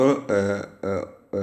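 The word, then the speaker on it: war: تساوي سي و و و ور وورشيب اللي هي سكن حربيه طبعا ور اللي هي دبليو اي ار بتتنطق دبليو او ار وور شيب ورشيب لسه في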